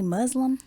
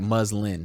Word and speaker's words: muslin: i ain't talking about oh muslim no it's like muslin excuse me how have